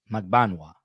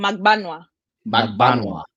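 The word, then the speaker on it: Magbanua: And by the way, what is the correct pronunciation on her last name? Magbaua. Okay. Say it again. Yeah. Magbaua.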